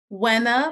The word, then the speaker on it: Wina: name is Wina Andrews could you pronounce your name for me Buena like when am I gonna get your book right number three number